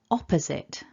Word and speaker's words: opposite: up the syllables and the blue mark top left tells us that we're stressing the first syllable of this word so it gets a